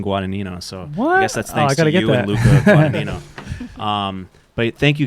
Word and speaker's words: Guadagnino: like a hundred thousand views of some woman pronouncing guada Nino so Wow but thank you guys for coming